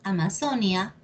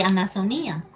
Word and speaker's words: Amazonía: Tenemos Amazonia, ¿sabías? Amazonia y Amazonía.